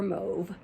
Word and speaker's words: mauve: mindful mobe mauve or move move is the uh french pronunciation of it the a u in french makes an o sound so uh it's got